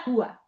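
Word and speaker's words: cùa: Perché senò metto leggo qua come? Perché? Ah, brava. La cua. Certo, perché va accentata la u la cua del del asen.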